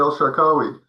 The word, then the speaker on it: El Shakawi: Is this Dr. El Shakawi? Oh yeah, that's Well, thank you, Gil. That's uh that's perfect. You're people who uh pronounce my name correctly.